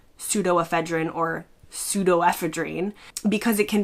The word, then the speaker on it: pseudoephedrine: In the US, we tend to say something similar to pseudoephedrine. In the UK, they say something closer to pseudoephedrine.